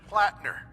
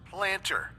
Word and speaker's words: Platner: this one glitch where Sergeant platner keeps getting pronounced planter Dr Amari suggests it's